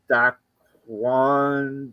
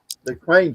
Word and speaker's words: Dwayne: see if anybody can figure out how to pronounce this name. Duan Johnson or some Dain Johnson. Dwayne Johnson.